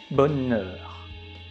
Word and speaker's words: bonheur: And also you can remember that the combination of the letter E and U together make the sounds E, bonheur.